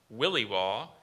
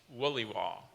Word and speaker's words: williwaw: unknown origin and use there were two pronunciations yes there's williwaw or williwaw it's the name of